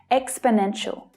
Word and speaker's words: exponential: There are 4 syllables. Exponential. The third is the strongest, though the first one is also stressed. The remaining 2 syllables are unstressed, so they reduce down, they become the schwa sound, which is always short and low in pitch.